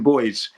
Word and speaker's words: buoy: They're known as buoys, ocean buoys, okay? Or ocean boys in English pronunciation.